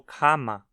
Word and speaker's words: kann ma: Mas se a palavra a qual ele se conecta termina em n, o n no final da palavra se converte num m. Ma kann das essen. Kann man das essen? Note como kann ma se tornou kama.